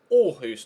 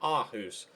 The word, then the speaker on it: Aarhus: I was told in the comment section it's pronounced Aarhus, not Aarhus.